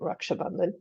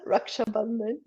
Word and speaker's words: Raksha Bandhan: if it's the proper term is, I think, Raksha Bandhan. This was Uh, what? So, so they again? Raksha Bandhan, and I Rakshabandhan. no, it's so totally not that. Raksha Bandhan.